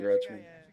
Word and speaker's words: Rutschman: Yeah, Adley Rutschman.